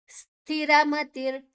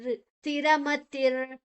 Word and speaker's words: ಸ್ಥಿರಮತಿರ್: ಮುಂದಿನ ಅಕ್ಷರ ಸ ಇದೆ ಸ್ಥಿರಮತಿರ್ ಸ ಮತ್ತೆ ಥಿ ಮಹಾಪ್ರಾಣ ಮತಿರ್ ಮತಿ ಆದ ನಂತರ ವಿಸರ್ಗದ ಉಚ್ಚಾರಣೆ ಸ್ಥಿರಮತಿರ್ ಭಕ್ತಿಮಾನ್ಮೇ ಪ್ರಿಯೋ ನರಹ ಭಕ್ತಿಮಾನ್ಮೇ